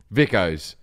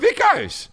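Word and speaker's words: Vikos: brand that I drink when I'm in Greece, Vicos. It's spelled V-I-K-O-S.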